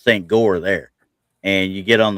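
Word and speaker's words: St. Goar: I did a lot of the Christmas markets and there's one St. George is the way it's pronounced here, but it's St. Gore there.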